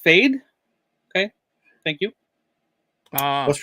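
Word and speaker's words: Fede: It's pronounced Fade. Okay, thank you. What's pronounced Fade? His name of the name of the director. Fade Alvarez.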